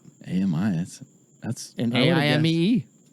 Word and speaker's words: Aimee: A-M-I, that's And I would've AIMEE. A-I-M-E-E. Aim. That's right. Aim-E. Yeah. Like a weapon.